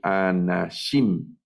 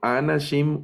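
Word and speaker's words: אנשים: son 1000 por ejemplo esta palabra se lee anahím anahím hacia el final va el acento no leo anachim O anachim sino anahím anahím esta palabra significa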